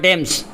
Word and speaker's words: Thames: London is on the Thames हला. London is on the Thames. TH हला जोड़ा H पुरेइबो. Okay. THAMES हला एडला तमर बनान ठीक रे लिखि नियो. London is on the Thames. उच्चारण Thames. Okay.